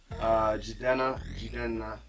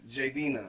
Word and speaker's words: Jidenna: No, they say, how do they say my name? I mean, Jidenna. Some people say Jidenna. What'd you say? What'd you call me? Jidenna. Oh, J-Denna. Yeah, that's interesting. Some people call me J-Denna or Denna, but it's Jidenna.